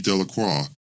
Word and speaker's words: Delacroix: Harry Jones and Dickie De La Croix the villagers pronounced his name delacroix eventually made a great